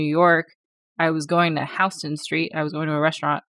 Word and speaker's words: Houston: around hon Street and I was asking my co-workers are we going to Houston Street because that's how it's spelled they were like you mean H Street and I was like why are you looking at me like this the rest of the country pronounces it one way I just don't know